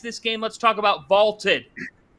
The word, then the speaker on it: VLTED: Vaulted is spelled VLTED, and it is the